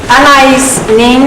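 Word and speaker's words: Anaïs Nin: Anais Nin, a lot of people think it's pronounced differently, but I was corrected by a linguist about 5 or 6 years ago, once said, dreams pass into the reality of action.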